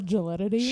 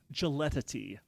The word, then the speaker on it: gelidity: How do you spell gelatity? Sure thing. Yeah. The spelling of gelatity is Gelidity. Gelatity. Gelidity. Maybe I'm saying it badly. I have the pronunciation in front of me, so gelidity.